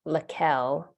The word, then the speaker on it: Lakell: And just want to take a moment to make sure we know our amazing student leader's name is pronounced Lakell.